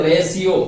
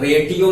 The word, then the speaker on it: ratio: देखें RATIO है तो इसको आप रेटियो नहीं बोलेंगे, रेशियो बोलेंगे। तो यानी T और IO को प्रोनाउंस जो करते हैं वह शाम में बदल जाता है तो रेशियो होगा।